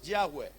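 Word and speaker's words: Yahweh: ese cambio de nombre el nombre de jehová no se escribe es jehová en hebreo es yagüe una y una h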